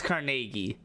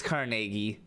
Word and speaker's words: Carnegie: you okay foreign how how is n-e-g-i-e one syllable that was weird definitely not too syllables it's Carnegie yeah Carnegie it's Carnegie technically it's the emphasis is on car and then it's yeah Nagy Carnegie I mean I I